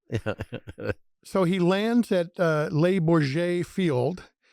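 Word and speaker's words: Le Bourget: So he lands at, labor J field. I had to, ask Norb, how to pronounce that because, you know, I'm from sandwich, and we call it labor get, you know, so we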